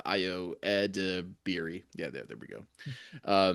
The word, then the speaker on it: Edebiri: Woody Harrelson, Kumail Nanjiani, so and Io Edebiri, or I always get her last name wrong. Io Edebiri.